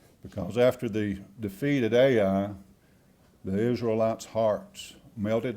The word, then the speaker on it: Ai: in the mountains, Tommy, call it Ai, but I think the correct pronunciation is I.